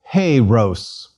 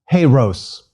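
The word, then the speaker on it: ἱερός: Heiros. And faster. Heiros. Time runs apace. Let's look at what remains of ancient Greek pronunciation.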